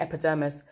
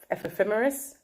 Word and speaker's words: ephemeris: the other one and i was calling it epidermis f ephemeris listen guys i'm intelligent